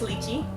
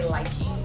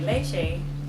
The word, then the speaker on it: lychee: Well, staying in kind of the Asian theme, let's talk about lychee or lychee. Which one is it? So it's lychee. Okay. But if you speak to someone who's British, they'll say lychee, because I believe that's how they say it in England. Okay. But here, most people will say lychee, but I have heard people say leche. But leche is milk. Exactly. Leche means milk.